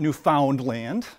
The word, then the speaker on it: Newfoundland: Second, I learned how to pronounce Newfoundland. It It's not Newfoundland, right?